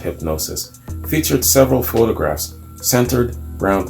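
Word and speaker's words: Hipgnosis: from hip hip gnosis 8i PG n OS is I guess it's pronounced hypnosis featured several photographs centered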